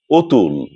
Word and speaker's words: অতুল: কিন্তু এমন কিছু শব্দ আছে যেগুলোর শুরুতে অ থাকবে কিন্তু উচ্চারণ হবে ও এর মত। এক্ষেত্রে লক্ষণীয় বিষয়টি হচ্ছে এসব শব্দ দ্বারা মানুষের নাম বোঝায়। আমি কয়টি শব্দ বলছি আপনারা লক্ষ্য করুন। যেমন ধরুন অতুল অতিন অনিল অতিশ আমরা অতিশ দীপঙ্কর বলি না।